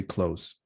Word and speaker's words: clothes: say months months months clothes is almost always pronounced in a simplified way too not clothes because it's difficult to make that change so you say close that's it all right